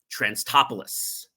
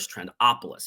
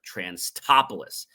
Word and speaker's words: Transtopoulos: And his name is Transtopoulos. And I was pronouncing it Trantopoulos. It's Transtopoulos.